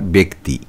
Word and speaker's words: ব্যক্তি: ফল কয় তয় হ্রসকার ব্যক্তি শব্দের সঠিক উচ্চারণের রূপ হল বয় এককার কয় হসন্ত তয় হ্রসকার ব্যক্তি 44 নম্বর প্রশ্ন দন্তস্য